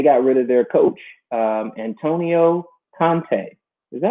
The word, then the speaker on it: Antonio Conte: My homeboy Antonio, big Chelsea fighting club fan, huge fan of Chelsea FC, and they got rid of their coach, Antonio Conte. Is that how you pronounce that?